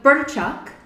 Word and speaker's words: Burčák: Czech people here during the harvest time so birth Chuck a little difficult to pronounce is also known as Federer in Austria